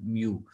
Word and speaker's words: mu: use mu this greek sign is known as mu right you can pronounce it like mu so same sum all the values divided by